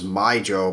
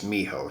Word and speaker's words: Mijo: the pronunciation on that i always thought it was my joe but he did tell me miho and then after watching some lamely videos i did find out it's miho so thank you for